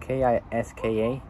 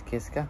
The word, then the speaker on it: Kiska: The X-Bow road car was developed in collaboration with Kiska, which is spelled K-I-S-K-A, yeah, Kiska, Audi, and Dallara, which is spelled D-A-L-L-A-R-A.